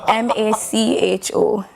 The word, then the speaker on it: Macho: Look at Matthew here, you know? Matthew? Macho. It's Macho. Spell it for me. M-A-C-H-O. It's Macho. You might call him Matthew.